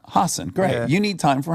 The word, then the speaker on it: Hasan: out time for Hass I want to say it right from H Hassen great you need time